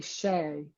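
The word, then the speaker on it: شاي: So we say shay. So that it's not a ch. I guess it's a sh.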